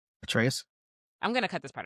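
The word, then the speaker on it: Atreus: Ateus. There you go. Yeah. Well, James knows. He plays God of War. What? How did you say it, James? Ateus.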